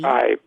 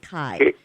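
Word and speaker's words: Kaib: And so it's Edward Cabe. And did I pronounce that right? It's K-A-I-B? Cabe. Cabe. It is Cabe. Yes, Cabe.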